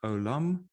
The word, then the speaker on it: עוֹלָם: the hebrew word alum so this is how you spell it in english or pronounce it alum and it means eternity